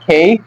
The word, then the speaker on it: K: তো এখানে আমি যেভাবে দিয়ে দিচ্ছি যে এর উচ্চারণ হবে এই, জে এর উচ্চারণ হবে জেই, কে এর উচ্চারণ হবে খেই, তারপর ওর উচ্চারণ হবে ও, পির উচ্চারণ ফি, এবং কিউর উচ্চারণ হবে কিউ।